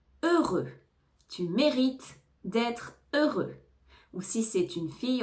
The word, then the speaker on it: heureux: la prononciation du mot heureux on ne prononce pas le H et on ne prononce pas le X on entend deux fois